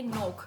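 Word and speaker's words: noch: होगा book dear book N ओ सी एच है ये नोक बुक का मतलब है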